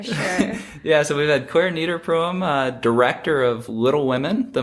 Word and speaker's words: Clare Niederpruem: We've had Clare Niederpruem.